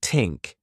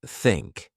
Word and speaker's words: think: For pronunciation, you might struggle with the thea sound, saying tink instead of think. I used to do that, too. Practice by putting your tongue between your teeth and blowing air like think.